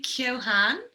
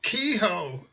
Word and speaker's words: Keohane: You'd say Keohane. Exactly. But I have a sister in Melbourne, so I think she's making moves there, making waves with the pronunciation, just to get it right all over across the globe. Yeah, because people who we would perhaps call Keo, they would call Kehoe.